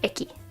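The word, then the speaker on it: 駅: Then you start with horse and put a little box with feet, and that becomes station, pronounced eki.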